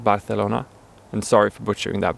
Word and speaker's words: Barcelona: Spanish is sometimes called Barcelona and sorry for butchering that by the way while there's a common myth in Spain that pronouncing it with a sort of soft th sound came about because the